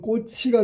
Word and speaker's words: 꽃이: 그러니까 꽃이는 발음하면 꼬치가 되겠지. 꼬치.